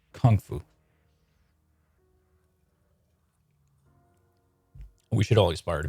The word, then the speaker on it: kung fu: But I've heard Jackie Chan pronounce it as with the emphasis on kung, like kung fu.